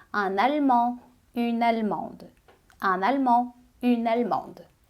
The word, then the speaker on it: allemande: Em francês fica un allemand. E uma alemã fica une allemande. Une allemande. Un allemand, une allemande. Então, a adição do E deu som ao D.